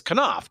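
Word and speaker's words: Knopf: it is published by knoff Koff sorry I never can pronounce that correctly because I always get screwed up on it it's Koff k n o PF um a long time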